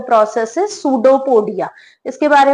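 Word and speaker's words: pseudopodia: इसमें ध्यान देने वाली बात है कि पी साइलेंट होता है इसमें। सूडोपोडिया, थ्रू सूडोपोडिया ये अपना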